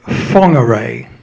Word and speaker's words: Whangarei: He insisted on calling Whangarei Whangarei because he liked calling it the Maori way.